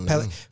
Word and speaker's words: Pellegrino: Pellegrino.